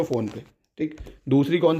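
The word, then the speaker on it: Phnom Penh: फ़ोन पे, मतलब PHNOM थी और स्पेलिंग शायद PENH ऐसे है, देख लेना। फ़ोन पे, फ़ोन पे है, फ़ोन पे, फ़ोन पे करके याद रख लो भाई, फ़ोन पे, ठीक है।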